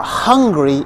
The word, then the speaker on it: hungry: he is angry now hungry is when you need to eat so to help you remember the pronunciation consider the phrase I'm so hungry I could eat a hundred horses angry is when you're